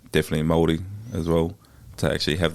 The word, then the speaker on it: Māori: that I am a fan of with the Māori. Is that how you say it? Māori?